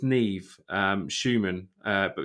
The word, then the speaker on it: Nev: called I think it's Neve Schuman uh but his first name is spelled Nev so I've normally mispronounced it as never but his name is